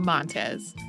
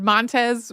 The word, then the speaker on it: Montez: I found some contradictory advice about whether people said Montez with the accent on the first syllable or the second.